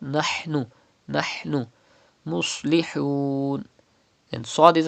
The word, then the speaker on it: نَحْنُ: Pronounce ha from the middle part of your throat. Do not read nahnu, but nahnu.